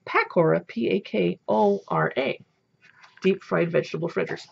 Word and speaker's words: pakora: Oh, look how they spell it. P-E-K-O-W-R-A-H. But in India, it's pakora, P-A-K-O-R-A.